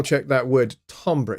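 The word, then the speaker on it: timbre: check that word tomra it's a French word uh you guys in the United States spell it wrong you spell it as t i m b r which is Timber no it's tomra t i m b r e it's French tomra all right so uh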